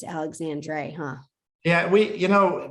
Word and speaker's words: Alexandre: you know we say Alexander it's just easier but yeah it's definitely spelled backwards yeah so somebody has to look it up or spell it we kind of do the Dre yeah okay got it